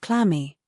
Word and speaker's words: clammy: Check out the definition of clammy. Okay? So clammy basically isn't adjective. As you say, the stress goes on the first syllable. Clammy. It's cold and damp, covered with moist, basically sweaty hands.